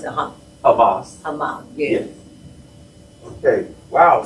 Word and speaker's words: Hamas: But how you pronounce it? Hamas.